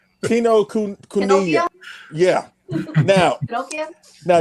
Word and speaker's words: Kinokuniya: How do you pronounce that? Kinokuniya. Basically, what they said. Kinokuniya.